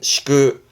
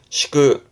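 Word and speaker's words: 敷く: 발음은 시그 시그.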